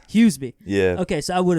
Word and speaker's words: Huseby: How do you pronounce the last name? How do you say it correctly? Huseby.